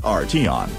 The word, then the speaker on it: Arteon: Phonetically, Volkswagen's new flagship is Arteon. Philosophically, it's arty plus three letters tagging along for the ride. Think of it as the arty one and you'll mispronounce it but nail the idea.